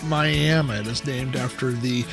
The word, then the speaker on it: Miami: Now, it is spelled like Miami in Florida, but it is pronounced Miami.